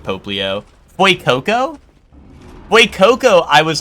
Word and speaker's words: Fuecoco: Fuecoco?